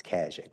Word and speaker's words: Kajik: So, but my last name is and it's Kajik. It rhymes with magic. So that's what we tell all the kids. So if you want to be on the end, it's Kajik.